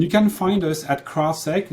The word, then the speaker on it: CrowdSec: you want and you can find us at crosstak it's spelled c-r-o-w-d-s-e-c dot net and the product is